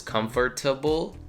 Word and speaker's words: comfortable: So this one is comfortable, right? But many people just say comfortable. Comfortable. It's like the R and the T are very close together, almost like blending in to the same letter, sort of.